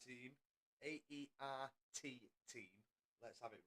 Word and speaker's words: AERT: We know Sam and Goto are driving for the AERT team. AERT team.